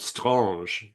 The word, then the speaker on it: Strange: It was like a perfect bound comic book called Strange. That's strange pronounced with a French accent.